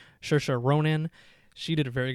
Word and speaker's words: Saoirse: The actress that played Lady Bird, I believe you say her name, Saoirse. I believe that's how you say her first name. Saoirse Ronan.